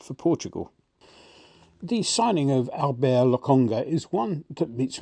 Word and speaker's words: Albert: proper footballer's name like Albert, even if we're supposed to pronounce it the French way, Albert.